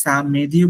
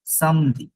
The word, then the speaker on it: samedi: এখানে ই দেখলেও কিন্তু সাম মে দিও বললাম না, সাম মো দিও বলা যাবে না, সামদি, সামদি, ইটস এ স্যাটারডে, সামদি।